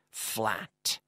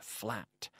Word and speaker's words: flat: pronunciation FL 80 lat flat flat you have to pronounce that hard T at the end flat I have a flat